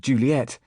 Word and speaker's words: Juliet: Shakespeare's Romeo and Juliet with Juliet given last syllable stress treatment.